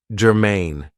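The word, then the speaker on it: germane: you is Germain now this is two syllables and the stress is on the second syllable Germain it means that something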